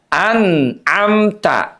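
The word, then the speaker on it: أنعمت: Anamta. Jangan sampai izharnya diputus bunyinya kayak sakta an amta.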